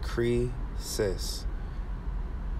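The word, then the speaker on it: κρίσις: were evil so condemnation the greek word is pronounced cree cis and so when something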